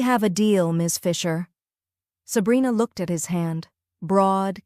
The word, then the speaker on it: Sabrina: Sabrina. He said it with the Sicilian pronunciation, rolling the R, making it sound like a caress.